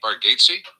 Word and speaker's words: Bargatze: He told us how to pronounce his name, Nate Bargatze. Really? Bargatze.